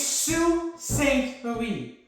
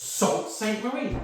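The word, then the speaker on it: Sault Ste. Marie: Oh, it's Sue Saint Marie. I get people going, "It's Salt St. Marie."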